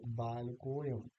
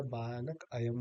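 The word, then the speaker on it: बालकोऽयम्: हम इसको कहेंगे बालकोयम, तो हम अ यानी ये अ जो है इसका लोप हो जाएगा और ये हो जाएगा बालकोयम। तो ये अ नहीं बोला जाएगा, बालक अयम नहीं बोला जाएगा, बल्कि ये बालकोयम।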